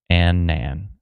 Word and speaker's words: Annan: It's pronounced Annan. Annan. My bad.